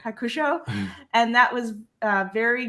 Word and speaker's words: Hakusho: it right you said it pretty much right hakusho and that was a very good obscure enemy